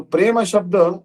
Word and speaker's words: prema: basically it is uh so Prema is actually two and a half syllables two and a half